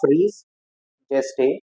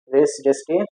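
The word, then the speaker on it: res gestae: Doctrine of रीस जेस्टे is discussed in, बहुत सारे pronunciation है, हमारी लैंग्वेज तो है नहीं, बाहर की है, तो जैसा जो आपको इजी लगे कर सकते हो। रेस जेस्टे या रीस जेस्टे, जो भी एक पसंद हो।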